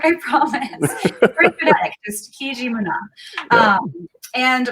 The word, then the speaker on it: Kijimuna: Andrea, tell us a little bit about where we can find your help me pronounce it. I want to make sure I'm saying it right. Okay, it's called Kijimuna.